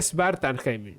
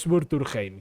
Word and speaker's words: Svartalfheim: Se dice Svartalfheim, no es Surturheim, que también me da.